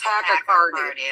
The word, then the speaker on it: tachycardia: participate in a polygraph test because you have tachycardia, or however it's pronounced, but your heart beats faster. It's tachycardia.